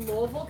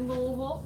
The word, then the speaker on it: Louisville: and I am from Louisville Kentucky yes I said Louisville not Louisville not Louisville it's pronounced alright today I'm